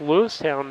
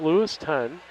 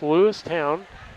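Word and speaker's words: Lewistown: We're in Lewis Town and that's Lewis Town, not Lewis Ton. It's Lewis Town.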